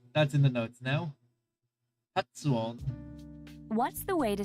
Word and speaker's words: 発音: Hatsuon. What's the way to say pronunciation?